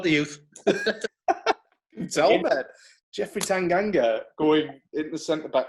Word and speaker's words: Tanganga: don't ask me to pronounce this, because is it Tangana? Tanganga, that's the one.